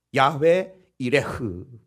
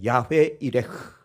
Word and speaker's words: 여호와 이레: 야훼 이레흐 한번 합시다. 야훼 이레흐. 좀 어렵죠? 그러나 그냥 담아두세요. 야훼 이레흐. 흐 발음을 약간 좀 거칠게 하시면 돼요.